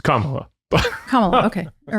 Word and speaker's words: Kamala: not voting for for I thought I said it right camela I was like I'm not voting for camela it is Kamala I was like oh